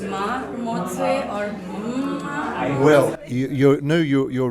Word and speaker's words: Mma: if it's Maramotse or Ma? Well, you're right in the second pronunciation there. The double M in Setswana language accentuates the M sound a bit, so it's ma.